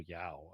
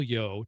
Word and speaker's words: Yeoh: I think forever I've been saying Michelle Yao. I don't know why, but Michelle Yeoh to pronounce her name correctly.